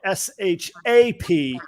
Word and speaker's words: Shap: But you all should check out Summer's shop, but it's pronounced shop, but it's spelled S-H-A-P. Well, And it's pronounced shap.